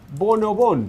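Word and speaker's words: Bon o Bon: Yeah, we call bonobon.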